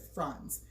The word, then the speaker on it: Franz: And that's why we said Franz, because that's how you would pronounce his name.